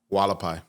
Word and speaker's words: Hualapai: the the you know hualapai way we're going to be like no dude it's whole it's freaking hard first of all there's no h in it well how do you say it wala pie did we just lose